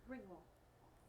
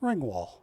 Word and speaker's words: Ringwald: Ringwall. Ringwald.